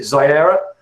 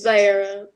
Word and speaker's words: Zaya: seriously i don't know is it ziera do you want to turn your mic on zlayer and tell me how you pronounce that it's zaya did i get it